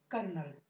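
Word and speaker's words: colonel: देखिए ये जो है ये एक्चुअली है कर्नल। ठीक है, इसकी जो राइट स्पेलिंग होगी वो होगी सी ओ एल ओ एन ई एल।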